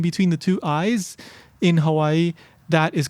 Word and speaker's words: Hawaii: If you were to talk to a local, somebody that was born and raised here where I live in Hawaii, they might not pronounce it as Hawaii. Maybe some would, but a lot of them would pronounce it as Hawaii or Hawaii.